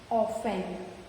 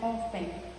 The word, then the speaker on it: often: Listen, Christmas, often. Here we don't use the T sound. The T sound is silent in all these words. We pronounce as listen, Christmas and often.